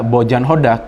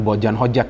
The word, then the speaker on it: Hodak: Pelatih mereka Bojan Hodak, jadi bukan Bojan Hojak ya, tadi saya salah pronounce-nya.